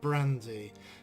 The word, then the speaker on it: Brante: and they, the developers themselves, pronounce it as Brante, Sir Brante. However, with my crazy English accent, I'd probably prefer to pronounce it Brante, or even Brant with a silent E.